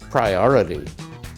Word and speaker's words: priority: he flaps the T. So it sounds a little like a fast D sound.